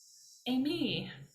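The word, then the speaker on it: εἰμί: to be I am Amy like you say it like Amy like the woman's name I am Amy that's how you remember I am Amy except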